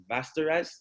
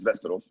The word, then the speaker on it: Västerås: He's actually the head coach at Västerås. Did I say that right? In Sweden? Almost, yeah. Oh, how do you pronounce it? It's like in the Game of Thrones, Westeros.